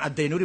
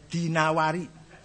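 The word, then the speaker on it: ad-Dinawari: dari kitab alimamahinawari jangan addainuri Bacanya dinawari jangan addainuri gak ada kota dainur ada dinawar alasm gak ada as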